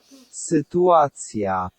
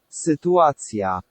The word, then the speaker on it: sytuacja: Now we have to think about this one because we've got sit. So that Y. Sit, ua. Sytuacja. Sytuacja.